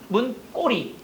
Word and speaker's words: 문고리: 문의 고리니까 발음 어떻게 된다? 문꼬리.